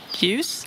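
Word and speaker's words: ljus: Et enfin, LJ va lui aussi se prononcer comme un Y en français. Alors, on a un exemple ici, c'est la lumière. Hein. Yup. Oh non. Yus.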